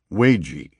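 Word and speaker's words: 危机: That outcome is reflected in the Chinese written character translated as crisis, which is pronounced weiji, and consists of two characters, the Chinese character wei, meaning danger, plus the Chinese character ji, meaning crucial occasion, critical point, opportunity.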